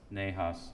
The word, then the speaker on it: Nahas: Rebecca, have I pronounced that close to correct? Nahas? Nahas.